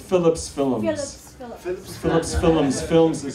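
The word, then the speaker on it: Filums: Films is spelled F-I-L-U-M-S, which is the Hindi pronunciation of the English word.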